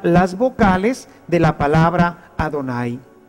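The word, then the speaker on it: Adonai: pronuncian ya ven ellos cuando ven este programa van a pronunciar adonay porque esto es lo que ellos deben de decir con el paso del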